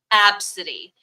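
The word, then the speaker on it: Abcde: uh box then but AB B CDE e is a name and it's pronounced absidy every girl I've taught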